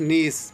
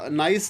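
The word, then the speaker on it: niece: Next है हमारे पास नीस। बहुत सारे लोग इसकी प्रोनाउंसिएशन जो है गलत पढ़ते हैं। ये नाइस नहीं है बल्कि नीस है। बहुत सारे लोग इसको नाइस पढ़ते हैं, नाइस नहीं बल्कि नीस है।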